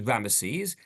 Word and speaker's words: Ramesses: And you'll notice as well, I put it over here, this name Ramses, which is interesting because in the way it's pronounced is Ramesses, and in the Torah, the name occurs a number of times, Ramses.